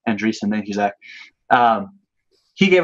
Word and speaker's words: Andreessen: firm you know Mark Anderson behind it he will mark probably agree safe and recent and reach them sorry I always I always mispronounce his name Andreessen Thank You Zach he